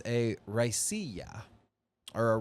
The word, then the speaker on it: Raicilla: Only 4 distillers are certified in the world to make this style of spirit, and it's a Raicilla, or a Raicilla. It's spelled Raiciall.